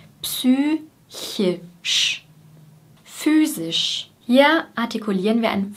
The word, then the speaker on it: physisch: Und bei sisch liegt die Zungenspitze schon oben bei S und geht nach unten für das I und geht wieder hoch für das Sch. Sisch, sisch. Physisch.